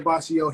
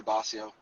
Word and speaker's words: Bossio: name wrong for years am I saying your last name right now you said it right some people say boss yo either one either one works okay what up I